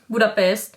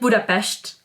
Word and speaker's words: Budapest: especially the capital city 'Budapest' foreigners call budapest "Budapest" but because Hungarian language 's' is prononce as 'shhh' so people here call Budapest "Budapesht" when I first came to Hungary, I was like REALLY?